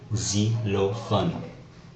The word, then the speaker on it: xylophone: Now, often X would make a Z sound, such as in the word xylophone, xylophone.